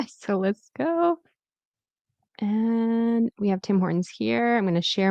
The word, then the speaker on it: Tim Hortons: Tim Hortons.